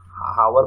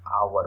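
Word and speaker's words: hour: जैसे देखिए ये रहा, इसको क्या पढ़ते हैं आप, हावर पढ़ते हैं क्या? हावर नहीं होता, ये तो साइलेंट रहता है, आवर होता है ना, आवर पढ़ते हैं।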